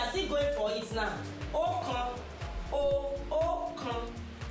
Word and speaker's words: ọ̀kan: We call it ọ̀kan, or you say ọ̀kan.